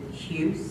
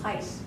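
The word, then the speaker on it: Huis: Lisa and Lou, is it Hughes? Heiss. Heiss, H-U-I-S.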